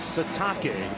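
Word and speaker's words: Sitake: up 14 Kanani satake that's right it is satake that is the proper pronunciation Kanani satake in his eighth seon as BYU's head coach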